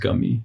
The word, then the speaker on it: gummy: なんか今さっき発音で出てたんだけど、ガミはガムじゃなくてグミで、グミの発音は英語でなんかもうガーになるから。グミ becomes gummy.